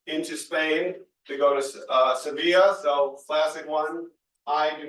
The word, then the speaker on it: Sevilla: Spain to go to Sevilla. So classic one. I do not speak very good Spanish, but it looks like Seville, but it is pronounced Sevilla.